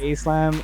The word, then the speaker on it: A-SLAM: with peace and then a slam is like a western pronunciation of it but also like in